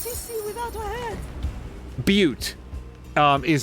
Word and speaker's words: Butte: Butte is how it's pronounced, confirms Jelly Buns.